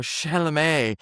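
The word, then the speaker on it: Chalamet: We are talking about Timothy Chalé or Shalamé as as uh as it's correctly pronounced.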